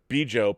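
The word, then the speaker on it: Bjo: Special guests at Star Trek Las Vegas and a host of other 50th anniversary events, Bijo, pronounced Bijo, and her husband John are Star Trek's fans, the determined couple who saved the franchise.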